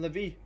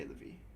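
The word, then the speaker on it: Lévis: I think you say I think you say Levie. I think that's how you say it.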